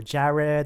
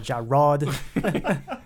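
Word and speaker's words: Jarrod: a double are IDI so some people pronounce it as ja red or Jared or Jaron rod or ja rod it's just Jared and what kind of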